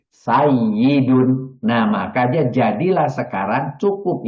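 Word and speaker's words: سَيِّدٌ: Nah, maka ini akan menjadikan wawunya diganti oleh ya menjadi sayyidun. Karena ya dengan ya bergandengan dan yang depannya bersukun, maka itu jadi tasjid. Tasjid itu dua huruf yang bergandengan kemudian digabung menjadi sayyidun.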